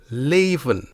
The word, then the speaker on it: leven: case we also have the long e sound a when the letter e is in an open syllable this means it is not closed by a consonant an also important factor is that the syllable is stressed let's take the word Leen meaning to live here is how it sounds le le le okay